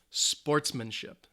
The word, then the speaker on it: sportsmanship: competition is sportsmanship and this is a noun that's three syllables the stress is on the first syllable sportsmanship sportsmanship and whenever you play